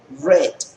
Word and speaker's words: read: a decir en pasado lo digo como Red Red la misma pronunciación del color rojo red voy a decir me